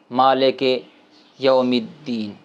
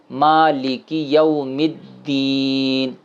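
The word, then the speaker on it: مالكِ يوم الدين: ہے، ٹھیک ہے جی، یہ صحیح اس کا تلفظ ہے مالکی یوم الدین۔ غلط لوگ پڑھتے ہیں، وہ اس طرح پڑھتے ہیں مالک یوم الدین، یوم الدین، تو یہ غلط ہے۔ ٹھیک ہے جی، یہ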